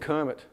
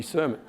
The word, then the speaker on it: Kermit: It's also why Kermit the Frog is not spelt with a C, otherwise he'd be Sermon.